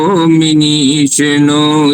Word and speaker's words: मनीषिणो: तो सबसे पहले मिनी नहीं है, वो मिनीषणो नहीं है, मनीषिणो।